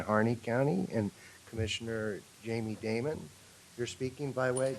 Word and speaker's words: Damon: The former banker from, That's not Damon. oh, that's how they pronounce it. That it's not. It's Diamond. like Diamond, D-I-M-O-N.